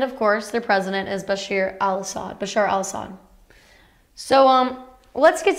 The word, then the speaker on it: Bashar: President Bashar Al Assad, I've been saying Bashir, it's actually more like Bashar, a mix of the two.